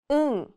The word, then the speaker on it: 응: 응. 이응 is silent at the beginning of a syllable, but when used as a 받침 at the end, it sounds like 응.